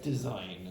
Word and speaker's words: design: The G is disappeared as well. Okay. Like design as well.